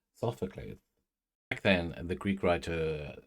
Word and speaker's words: Sophocles: Why does that sound wrong in my mouth? I am pronouncing it correctly. Sophocles.